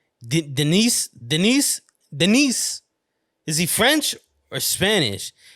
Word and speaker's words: Denis: Do not pronounce the S to Denis. It is silent in French. Do not say Denis, but rather Denis Villeneuve.